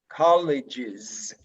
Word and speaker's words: colleges: When you have a ge by the end, okay, you have to pronounce is. College, colleges.